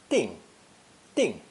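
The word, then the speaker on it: 定: we have a new ideogram pronounced fourth tone ding it literally means to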